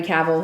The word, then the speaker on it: Cavill: now Henry Cavill where I pronounced at cabell so whatever Henry Cavill who's also beautiful and seven